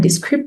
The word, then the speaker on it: Descript: So this is what the script looks like. Uh this is what the logo looks like and it's it's pronounced the script up here.